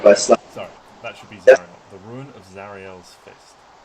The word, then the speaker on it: Zariel: The second one is called Ruin of Zuriel's Fist. Always get the pronunciation of this mixed up. Might be Zariel's Fist. And which one's the demon? Zariel. Zariel. Yeah, that's me getting it wrong.